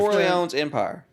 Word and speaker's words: Corleone's Empire: Cornet. Is it? How do you pronounce? Much approved. Corleone's Empire.